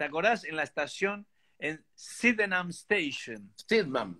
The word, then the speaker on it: Sydenham: En la estación, en Sydenham Station. Sydenham, sí. Sydenham, Sydenham. Sí. Se escribe S-Y-D-E-N-H-A-M.